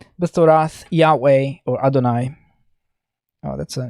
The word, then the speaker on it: Yahweh: in two different ways this is the name of god yahweh we actually don't exactly know the pronunciation but yahweh is probably the correct name or close enough now when jews read this text they don't pronounce yahweh they say adonai because they didn't want